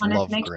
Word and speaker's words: Lovegren: Am I saying that right, Ivan? Is it Lovegren? Yep, you are pronouncing it correct. It's Lovegren.